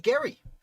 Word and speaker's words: Gerry: he is overlooked elbridge gary they call gerrymandering they mispronounce his name in uh in by giving him credit for something he really